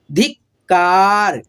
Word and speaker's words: धिक्कार: ये जो आधा क है ना इसका उच्चारण आप लोग को फास्टली थोड़ा सुनाई देगा, ठीक है, पूर्ण रूप